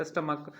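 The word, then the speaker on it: stomach: ही इसमें जो है च जो है क जैसा होता है जैसे बोले थे स्टमक के बारे में एसटी एम ए सी एच स्टमक तो सीच है बट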